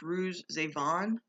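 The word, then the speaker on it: Ruiz Zafón: um the shadow of the wind by carlos ruiz avon that's how you say his name i know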